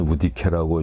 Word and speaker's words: 올적합: 기록에 보면은 야인이라고도 나오고 여진 또 오도리 그다음에 올적합이라고 하는 건 우디케라고 읽고 또 올양합이라고 쓰고 이제